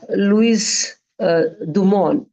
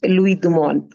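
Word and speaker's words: Louis Dumont: his name as uh Louis uh dumon d u m o n t t is silent here so we call him as um Lou dumon right this is how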